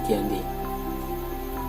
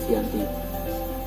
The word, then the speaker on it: Giyanti: Nama Giyanti sendiri diambil dari tempat penandatangannya, yaitu di Desa Janti yang dalam pelafalan Belanda disebutnya Giyanti.